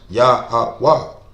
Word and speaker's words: Yahweh: It's impossible to get the verbs, you know what I'm saying, because it's pronounced Yahweh.